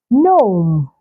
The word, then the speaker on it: gnome: Okay, so you can find the silent letter G in words that have the G come right before the letter N. You can find them in words like Nash, Nash, Nal, Nal, Gnome, not G.